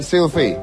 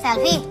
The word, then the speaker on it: Selvi: Tapi kisahnya adalah bahwa Gibran ini akan menikah dengan Sylvie. Selfie. Itu tulisannya Sylvie. Selfie. Itu tulisannya kalau bahasa Inggris bacanya Sylvie. Kalau tulisannya pakai ejaan Inggris SELVI jadinya Sylvie.